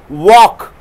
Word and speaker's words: walk: Walk. Fork. Arms. Palm. So give a speech pronouncing the L sound.